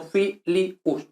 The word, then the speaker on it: filius: Filius, ¿no? Filius. U no es diptongo latino, por tanto, si no es diptongo, es iato, son dos sílabas separas. Por tanto, fiilius, no filius, no, eso no.